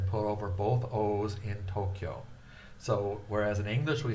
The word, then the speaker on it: Tokyo: So that K, kyo becomes one syllable. So to represent that, the to and the ki, the ki and the yo and the you have all been written together to represent one syllable, Tokyo. 2 syllables actually. The kyo is short, and then it's drawn out to O, Tokyo. So Tokyo has 2 long O's.